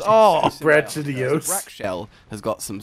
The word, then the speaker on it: Brachydios: Are you sure it's not pronounced Brach? Brachydios. Oh! Brachydios.